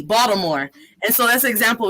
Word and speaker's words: Baltimore: bought with a t bought some more no one from baltimore pronounces it as box some more they pronounce it with a d baltimore and so that's an